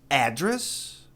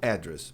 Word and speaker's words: address: Tem duas maneiras de pronunciar endereço. Address, não address, mas é longo. Address ou address. Address, address. Você escolhe. Tanto faz. Mas o verbo só pode ser address. Quer falar endereço?